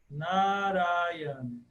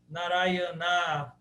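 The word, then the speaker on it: नारायण: ele ele está ali ele deve ser pronunciado sim naran narayan mas ele é breve el não pode ser narayana narayana não pode ser nada assim eh porque a tônica está no ra na na e o na primeiro também é aberto então é n Acho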